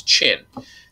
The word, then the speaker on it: Qin: In in the Chinese uh pinion derivative where we learn Chinese through uh Latin alphabet, the Q is pronounced with a ch. So this is Chin.